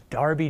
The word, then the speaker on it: Derby: pronunciation here's what it looks like looks like Derby G but it's not it's pronounced Darby jail and we're going to have a Little